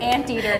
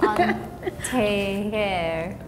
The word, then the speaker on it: antier: say it but it looks like ant eater okay okay okay that's not how you say it an an they're like no aunti hair like ATI ha sh aunti hair